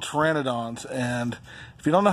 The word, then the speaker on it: Pteranodons: so these are called Pteranodons and if you don't know how to wear an Adonis spelled it spelled with a P it's ridiculous it's got a silent P just like boom bogna